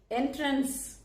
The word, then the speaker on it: entrance: இன்னைக்கு நம்ம எல்லாருக்கும் தெரிஞ்ச ஒரு வார்த்தையோடைய ரொம்ப தெரியாத இன்னொரு உச்சரிப்பை தான் பார்க்க போகிறோம். ENTRANCE. இந்த வேர்டு நம்ம எல்லாருக்கும் தெரிஞ்சது தானே நினைப்போம். Of course S. என்ட்ரன்ஸ், இந்த ப்ரொனன்சியேஷன் எல்லாருக்கும் தெரிஞ்சது.